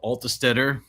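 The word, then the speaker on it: Altstaetter: by uh my buddy Carl altestetter which I believe is how you pronounce his last name he has a tough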